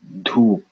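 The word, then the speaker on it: धूप: for P in English, get used to it not having that P, dhoop. There is a P without air.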